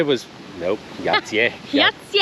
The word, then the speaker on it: Jajce: Yati or yatier. We're going to figure out. I'm going to go with yatier. Yatier. Yati. Yatier. Yatier or yatier. Yatier. We're goat. No, not yatsi.